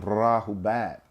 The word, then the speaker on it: Rahubat: The double A though, we stretch the A, Rahubat.